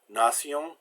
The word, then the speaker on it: nation: T is usually pronounced like a T, but in the suffix sion, it's pronounced like an S. Nation, action, and S between